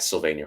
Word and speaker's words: Sylvania: social media platforms at Sylvania Harrod. You can see it spelled like it is in the bottom of this video. If you're listening to it, it's just Pennsylvania without the pen, Harrod like Harrods of